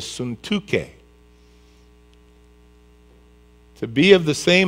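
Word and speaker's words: Syntyche: and i implore now the way you pronounce it in hebrew is suntuke to be of the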